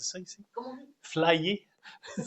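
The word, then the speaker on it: flyé: Flyer. Ça s'écrit comment?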